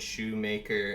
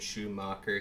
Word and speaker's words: Schumacher: it was like a he said it wrong i think he said shoe maker and then when the guy corrected him and said schumacher he like flipped the whole